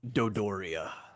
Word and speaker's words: Dodoria: Luke says, so Doris, and then he says, Doria, however you pronounce it. Dodoria.